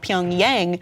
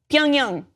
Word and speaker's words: Pyongyang: They just like it because it sounds like how we've been pronouncing the North Korean capital of Pyongyang, which is also wrong. Pyongyang. That's it. That's all it is.